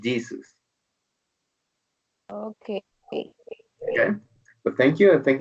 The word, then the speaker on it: Jesus: just keep in mind the pronunciation of the word Jesus you don't say hey Zeus but Jesus okay but thank you